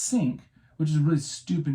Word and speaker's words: Cinque: that was called the Cinque Ports, it was spelled Cinque ports. But it's pronounced Cinque, which is a really stupid name for a ship if you Yeah.